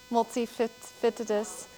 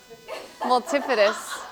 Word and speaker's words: multifidus: um Okay so Caitlyn how do you pronounce this word multifitis multi-fitis multifidus multifidus you don't understand last night